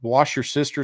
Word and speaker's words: Worcestershire: And here we say y'all and right and white and and we pronounce Worcestershire sauce and wash your sister sauce.